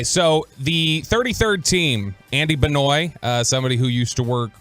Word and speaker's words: Benoit: get to just choose how your name is pronounced. It's Benoit.